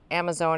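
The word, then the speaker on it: Amazone: It is Phlomis Amazon. It's spelled like Amazon with an E at the end.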